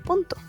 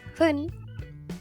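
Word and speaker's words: 分: Ese kanji se pronuncia fun o pun, dependiendo del minuto.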